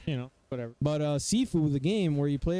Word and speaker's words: Sifu: i want sifu or some people would like to say saifu i don't know why anybody would pronounce it that way but whatever just just ignorant you know whatever but uh sifu the game where you